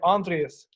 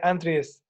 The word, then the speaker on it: Aindrias: you say it properly I think in Irish like in South converted to say on trees and clear to say entries and they name in